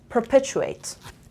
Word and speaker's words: perpetuate: about us perpetuate per stress is on the second syllable and then we have purple chew weight perpetuate perpetuate in amsterdam as